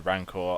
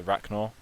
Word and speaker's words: Rancor: And going to the Rancor, I pronounced it wrong for the first 10 years of my life. I used to call it the Racnor.